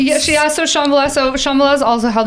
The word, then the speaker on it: Shambhala: Is that how it's pronounced? Yeah, so Shambhala.